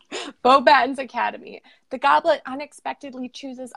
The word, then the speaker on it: Beauxbatons: you I believe it's probably supposed to be pronounced boba tomes but in the movie they very clearly say both patents so I said right the first time beauxbatons academy the Goblet unexpectedly